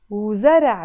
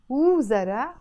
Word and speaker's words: وزرع: وزرع, وزرع, pronounced as really fast. I don't say وزرع, no, I have to say وزرع as if it's just two syllables.